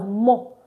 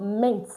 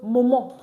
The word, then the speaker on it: moment: MENT, and we said MENT is pronounced as mo, not meant, like in English. So in English, this will tell you moment, but in French is moment, le moment.